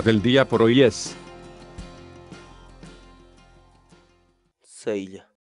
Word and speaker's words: saylla: de vídeos en la que te enseñamos a pronunciar algunas palabras en quechua así que nuestra palabra del día por hoy es sella sella sella la palabra quechua en español significa planta forrajera